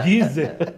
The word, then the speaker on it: Deezer: É Deezer.